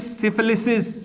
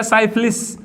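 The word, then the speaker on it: syphilis: एंड the last one इज सिफिलिस, सिफिलिस या साइफिलिस pronunciation different है, साइफिलिस और सिफिलिस, दो में से कुछ भी पढ़ सकते हो प्रोनाउंसिएशन में बेटा।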